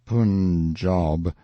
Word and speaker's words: Punjab: day from the punjab you must pronounce it pun job the handwriting was excellent